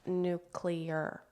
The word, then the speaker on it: nuclear: First, if I may, it's pronounced nuclear. Nuclear drives me crazy.